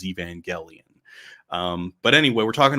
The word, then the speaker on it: Evangelion: can also comically mention how i said neon genesis evangelion even though apparently people told me it was evangelion um but anyway we're